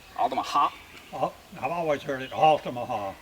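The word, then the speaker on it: Altamaha: me with this pronunciation alamaha is that how people from there say it yeah I've heard it said like different ways alaha alaha alaha so it's on the last syllable alaha I've always heard it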